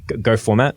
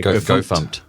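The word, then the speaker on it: gofmt: is kind of like go format which I think is the correct way to say it. I know people say goof. Go font. It's spelled goof fmt. I can't no I can't deal with that.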